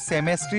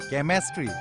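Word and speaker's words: chemistry: মাথা তো আছিল এই সাধারণ ওয়ার্ড তো আপনি উচ্চারণ করবো না জানেন মানে কি মানে সেমিস্ট্রি না হয় কেমিস্ট্রি কেন কেমেস্ট্রি হবো স্যার এটু সিএইচ আছে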